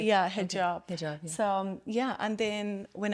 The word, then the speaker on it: hijab: is that how you say it like yeah hijab so yeah and then when I went to